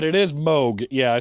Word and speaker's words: Moog: It is Moog.